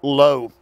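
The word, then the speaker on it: לא: That adverb, that negative, not, is spelled L-O, low.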